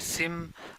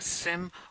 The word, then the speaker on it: SIEM: concept that's called siem people call us as a sim uh or it depends on which part of world you are but like you can pronounce this as a sim or you can remember